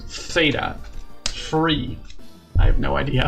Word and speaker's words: theta: Just focus on the th sound. It's only this sound. Theta.